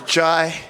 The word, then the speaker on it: Ji: I'm gonna say Jai, but you tell the camera exactly how to pronounce that whole thing. It's Jai.